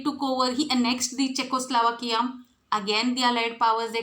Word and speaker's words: Czechoslovakia: How you should pronounce it? Czechoslovakia.